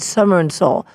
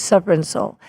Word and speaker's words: Supper and Soul: had said it wrong I said summer and Seoul but it's supper and soul they better have me